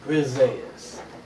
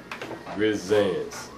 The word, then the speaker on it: Grizzands: Grizzands. Say it with me. Grizzands. Grizzands. 2 syllables.